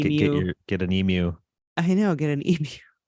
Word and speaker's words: Emu: Because he talks about the synthesizer that was used in Emu, as I've learned is the correct pronunciation of the word.